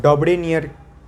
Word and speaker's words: Dobereiner: DOBEREINEINR, डॉब्रेनियर। DOBEREINER, ठीक है। डॉब्रेनियर ऐसे प्रोनाउंस होता है।